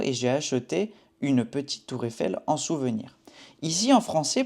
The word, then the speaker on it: Tour Eiffel: Tour Eiffel. On connecte aussi. Tour Eiffel. On dit tout d'une seule fois.